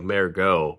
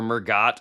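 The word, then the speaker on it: Mergott: I was going to try to battle you cuz I think his name's going to be pronounced almost like French, like Mergot, but it's m e r g o t t, but it's a linebacker.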